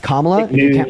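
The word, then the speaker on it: Kamala: then third of all her her name is pronounced KLA if you can't pronounce her name right just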